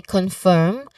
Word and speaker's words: confirm: They do not clearly pronounce the letter R sound. Unlike American English, where it pronounces the letter R sound all the time. Unless it is a silent letter. So, yes, they can say confirm, which is not how it which is how British English usually say it, and confirm with a clear R sound in American English.